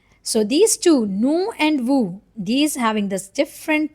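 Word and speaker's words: vous: Why we pronounce it vu? Because o and u together they make a sound like oo. Okay. And s is a silent letter. So it is like vu.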